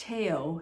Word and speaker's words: Theo: And then there's, well, it looks like Theo, but I guess it's pronounced Teo, his brother, who supported him financially and emotionally his whole life.